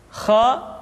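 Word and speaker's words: خ: selanjutnya adalah huruf Kha Kha dikeluarkan dari pangkal tenggorokan Kha pangkal tenggorokan diucapkan dengan mengalir nafas atau lebih praktisnya pengucapan huruf k persis terdengar seperti orang yang tidur dalam keadaan mengorok Kha khi khu bakh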